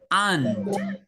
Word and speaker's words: aunt: Aunt. Aunt. Aunt. Aunt. Very Aunt. good. Aunt. Aunt. Aunt ini sama persis bacanya kayak semut.